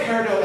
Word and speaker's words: peridot: injury source and peridot the word peridot ends in a t the please don't say